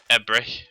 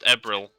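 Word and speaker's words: Ebrill: Get outnumbered, April, or as I like to call her, Ebrich. Here's where I'm told it's pronounced Ebril, and I will be sad for the rest of my life.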